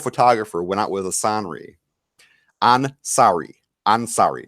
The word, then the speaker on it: Ansari: A 23-year-old photographer went out with a Ansari, not Assanri. Ansari. I am not sorry, but his name is Ansari.